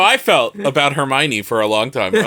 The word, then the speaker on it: Hermione: and I was like okay well everyone's saying Hermione now everybody knows how to say her write her some fanfiction about her me own her be hug love that what if what